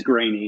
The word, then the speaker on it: Greaney: I get that right yeah you're nailing it I never notice when people mispronounce it but it is grainy yeah okay sounds good